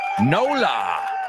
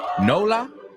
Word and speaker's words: NOLA: And you guessed it, we're going to NOLA. NOLA? Yeah. New Orleans, Louisiana. N-O, New Orleans, Louisiana, L-A, NOLA.